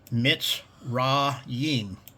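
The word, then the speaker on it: מצרים: Egypt is Mitzrayim. That's Egypt. Okay? Amorites. The pronunciation for phonetics is Emori.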